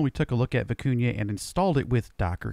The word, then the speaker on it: Vikunja: Yes, I know, I was pronouncing it wrong, and I probably still am, but I had a viewer correct me on that, so hopefully Vikunja is the right pronunciation.